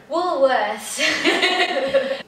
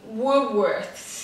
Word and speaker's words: Woolworths: Woolworths. Woolworths. Woolworths. Woolworths. Essa palavra é bem complicada e quando eu fui aprendê-la a pronunciar, eu dividi em duas partes, o woo e depois o worths, que é outra palavra também, worths, né?